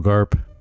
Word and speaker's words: Garp: I think Okay, yeah, it's it's Garb. Admiral Garb. Yeah, Admiral Garb. Is it Garb or Garp? Garp. Is it P? I'm pretty sure it's Garb, but it might be Garp. It's spelled with a P.